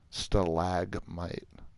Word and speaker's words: stalagmite: So it is stalactite, stalagmite. Not many people know about that. Everyone knows that there's a difference, M and T. I don't think people know that the first like syllable is like different.